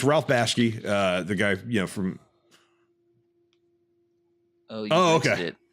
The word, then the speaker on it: Bakshi: Ralph Bakshi. Bakshi.